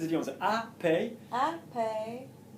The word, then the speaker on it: après: Because Parce que after having worked with Luc, après avoir travaillé Lovely. avec Luc, you're going to spell après for me. après, Yeah, you can spell in French letters if you want. So A-P, après, R.